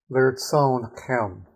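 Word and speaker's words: לרצונכם: Okay, the next word, lirtzon chem. Lirtzon chem. Accent on the last syllable, that's what this mark is.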